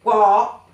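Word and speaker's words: 我: Aquí tenemos el carácter de wo, que se escribe, W-O, y lleva el tercer tono arriba de la O, ¿ok?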